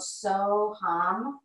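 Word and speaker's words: So Hum: It's called So Ham. Hopefully I'm pronouncing that right. So two words. First word is So, S-O. Second word is H-U-M, but it's actually pronounced like Ham, Ham.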